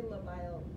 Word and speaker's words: labile: Labile?